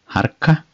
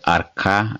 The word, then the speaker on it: harka: Hand is called harka, harka, sometimes called arka as well without H, but normally it is harka, harka, harka.